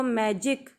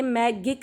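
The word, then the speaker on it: magic: जैसे देखो मैजिक, ये मैगिक नहीं है, मैजिक है। ये गिम नहीं है, ये जिम है।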